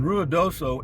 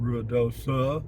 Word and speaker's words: Ruidoso: a night I just and Ruidoso ends with an O I keep getting it screwed up you know I I pronounce it Ruidosa well that's real though